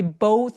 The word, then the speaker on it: both: We but saw 하면은 벗처럼 또 느껴지기도 해요. 그죠? We both saw. We both saw. 해서 both는 생각보다 진짜 발음하기 어려운데요 th 부분에서 혀를 또 살짝 내밀어서 바람소리가 좀 느껴줘야 돼요.